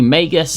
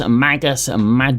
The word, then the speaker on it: Magus: The Magus Magus Magis, however you like to pronounce it, dedication requires plus two strength or dexterity and plus two intelligence.